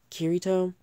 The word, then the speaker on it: Kirito: But for right now, here's how you pronounce the names. There's Kirito, Asuna, Egil, Klein, Premier, Strea, Yui, and you